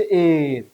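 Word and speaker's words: heir: কিন্তু আসলে এটার উচ্চারণ হচ্ছে এর।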